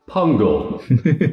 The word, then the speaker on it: pungle: here is your word pungle pungle pungle is that spelled like it sounds yep it is jungle with a p six letters gotcha that